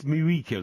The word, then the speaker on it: Mujica: Now, J in Spanish is not ever a J, is it? Well, it's Mujica then, or whatever.